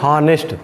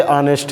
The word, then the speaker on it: honest: अभी कहना रहे, जैसे मैं इसको लिख रहा हूँ कि HONEST, तो इसको लोग कहते हैं हॉनेस्ट। जनरली लोग कहते हैं हॉनेस्ट लिखा है, लेकिन इसको पढ़ते ऑनेस्ट है।